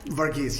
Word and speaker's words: Varghese: We are here with our friend, Vargas. Did I say it right? Vargas, yes, you got it perfect.